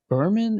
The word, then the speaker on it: Berman: I think we learned this from Michelle Berman. Is that how you pronounce her last name? It is.